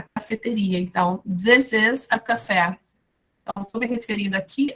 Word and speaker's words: café: This is a café. A gente pronuncia da mesma forma que fala em português.